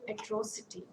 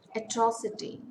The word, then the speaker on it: atrocity: antique when item it big example atrocity atrocity it's a four-syllable word stress falls on the second syllable bureaucracy it's again a